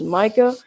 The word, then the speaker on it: Micah: My Cash App is Micah. That's spelled.